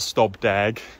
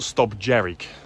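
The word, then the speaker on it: Stob Dearg: first Monroe that we bagged was not called St dag it's actually pronounced St jerk so I got that one completely wrong so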